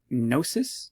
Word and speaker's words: gnosis: it means without knowledge so gnosis the silent g again with the a